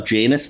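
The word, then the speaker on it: Janis: Lila dispatcher enemies are jainus thorns uh which Tom Baker made her pronounce it like that because she was using Janice thorns and it sounded like a soap star apparently that's a story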